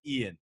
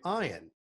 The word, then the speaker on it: Ian: They basically came up with Ian, but pronounced E-Y-E-A-N. Yeah, I was never Ian. I was always Ian.